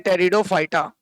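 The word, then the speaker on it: Pteridophyta: आई आइए देखते हैं टेरिडोफाइटा इसमें पी साइलेंट होता है पी है साइलेंट पढ़ते हैं टेरिडोफाइटा देखो यह भी पहले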